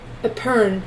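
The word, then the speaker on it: epergne: word I don't know, epergon? Thank you, Rosetta. Thank you for the email. I'll get it. Thank you. Okay, let's see what word, how to say this. Epern. Epern.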